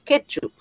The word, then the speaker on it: ketchup: Ahora, ketchup. Ketchup, ketchup. Ketchup es una palabra grave. Tiene la mayor fuerza de voz en la penúltima.